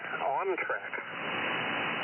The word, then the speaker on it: OnTrac: OnTrack. How do you spell that?